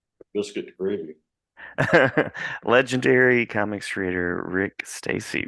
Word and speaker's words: Rick Stasi: Legendary comics creator Rick Stasi. Rick rhymes with Dick Tracy.